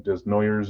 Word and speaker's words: Desnoyers: I want to see, I forget his first name, but Denoyer, or however the heck you say his name. Desnoyers is how you say it, but I think it's French.